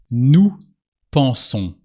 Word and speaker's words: nous pensons: Nous pensons. French verbs with nous always end with on, with a silent S.